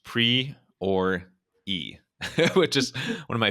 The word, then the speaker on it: Priore: Alrighty, we are here with Priore, pronounced pre or e, which is one of my favorite phonetic pronunciations.